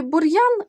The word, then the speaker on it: бур'ян: позначають тверді приголосні звуки бур'ян р ми вимовляємо твердо буряк р у нас пом'якшений був Дяк м'який А